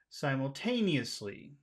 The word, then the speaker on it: simultaneously: low way so the way that we should pronounce this is simultaneously taneously t tenly tly tenly simultaneously simultaneously not